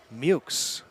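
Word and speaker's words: Meaux: Talked to Noah before the game, for game 1 to get the pronunciation. And that was not one of my guesses. Spelled M-E-A-U-X. But I guess it's somewhat Americanized because he did say the real pronunciation, which was something different, but you know how that goes.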